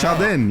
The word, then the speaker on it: Jardin: Jardin. Chaldin, yeah. If you want to pronounce it correctly.